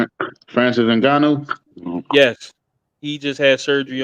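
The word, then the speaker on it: Ngannou: uh ufc heavyweight champion's name how are you pronouncing that francis angano yes he just had surgery on his uh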